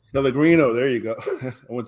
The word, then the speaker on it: Pellegrino: Drinking on some nice, I'm not sure how to pronounce it, some sparkling water. Pellegrino? Pellegrino, there you go.